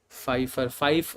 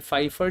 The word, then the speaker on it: Pfeiffer: Pfeiffer, Dr. Priya Gupta, Pfeiffer में P is silent.